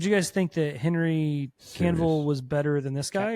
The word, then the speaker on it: Cavill: Is it Canville or Cavill? Cavill.